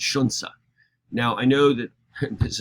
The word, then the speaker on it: Xunzi: get down to Shunsa, there's nothing about Xunzi that makes you want to say Shunsa.